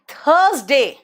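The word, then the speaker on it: Thursday: And money, अब आते हैं डेज के नाम पे, ध्यान से देखना, मंडे, ट्यूसडे, वेंसडे, बेटा वेडनेसडे नहीं बोलते, वेंसडे, थर्सडे, आर साइलेंट है, फ्राइडे, सैटरडे, पता नहीं दिल्ली में क्यों सैटरडे क्यों बोलते हैं लोग, मुझे नहीं समझ में आता, एंड अगेन संडे।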